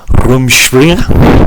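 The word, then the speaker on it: Rumspringa: this have a go this is room springer room spring or springer so this is a german word um because most of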